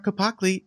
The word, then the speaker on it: Capacle: Cezar, Capacle, welcome, and thank you so much for coming on.